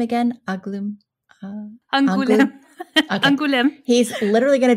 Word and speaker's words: Angoulême: Angoulême.